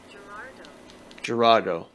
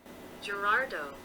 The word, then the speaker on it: Girardeau: Girardeau. Girardeau. Okay. Cape Girardeau. That is not how it's pronounced. Not how it's spelled.